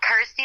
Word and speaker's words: Kirsty: and of course obviously it helps that it's you know rhymes with my name and helps people pronounce my name correctly so I'm like cool Kirsty like thirsty got ity like thirsty